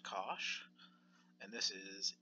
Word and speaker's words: cosh: at the end for bollock in it is pronounced cosh and this is e to the X plus